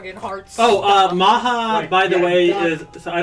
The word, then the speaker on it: Maha: Maha. M A H A. Uh, is it spelled right? I like how it's spelled like Baja Blast.